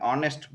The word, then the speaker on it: honest: Honest, because H is silent.